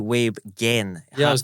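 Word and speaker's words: Weibgen: correct myself as well Hugh Web Gen Hard G yeah so I got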